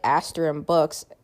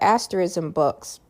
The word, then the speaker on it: Asterism Books: So yeah, even if you go onto a site like Asterim Books, um sorry, not a Asterism Books, I think I was forgetting to uh pronounce it properly there. Um but Asterism Books. So, um, we were rejected by Asteris and Books, by the way.